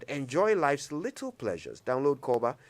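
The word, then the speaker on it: Korba: for chilling that's what they say but with koba every minute of your time is like a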